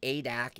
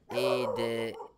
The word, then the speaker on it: ADAC: ADAC is pronounced A-D-A-C. Oh, A. Why didn't you just write A-D-A-C? You made that a lot harder than it had to be, Sim Racing 604. A-D-A-C, not ADAC.